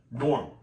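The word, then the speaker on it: Gnorm: G-N, it was spelled like this, G-N-O-R-M, Norm.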